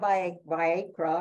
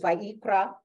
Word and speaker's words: Vayikra: need to remember that it's on the last syllable so it's not by Viagra or anything else it's by ikra right seven three says